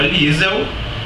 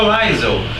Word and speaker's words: Liesel: o nome da personagem enquanto eu defendia que a menina se chamava liesel ela acreditava que se chamava laison né e eu tentando argumentar que seria a pronúncia alemã enquanto ela achava que